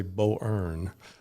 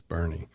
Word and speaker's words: Boerne: and they can pronounce Bernie then we've done our job correct you don't want to say Bo ear which I've heard many times I'm like no it's not Bo ear it's Bernie The Angel Network has